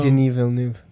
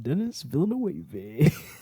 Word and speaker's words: Denis Villeneuve: Like Denis Villeneuve.